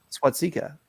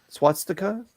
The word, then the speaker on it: swastika: well well look at this how did you pronounce it number 13. swatzika swastika color what you want yeah okay okay [